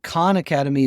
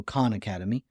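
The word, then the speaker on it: Khan Academy: called Con Academy and Con Academy is spelled KH H an so Con Academy and it is this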